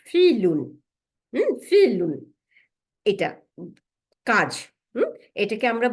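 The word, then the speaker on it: فِعْل: ভার্বটাকে বলে ফিল, বানানটা লিখে রাখেন, ফাজের আইন সুকুন লাম দুই পেশ, ফিলুন।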